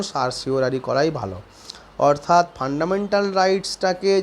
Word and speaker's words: certiorari: কেউ এটাকে সারটিওরারি বলে, উচ্চারণ সারটিওরারি করাই ভালো।